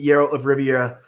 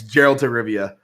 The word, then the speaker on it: Geralt of Rivia: so perfect to play arrow of Riviera and what's that name again I pronounce her oh it's Geralt of Rivia ah he plays a